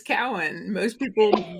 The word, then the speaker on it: Cowan: It is Cowan.